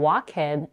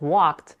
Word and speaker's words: walked: you have ever made the mistake of saying walk in instead of walked or fight in it